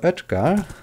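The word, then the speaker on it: Oetker: talking about is from Dr Edgar well I'm pronouncing it the the German Way maybe you have a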